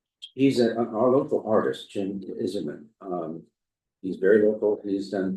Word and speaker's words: Isermann: Jim Iserman, Isermann, and he does pronounce it Iserman.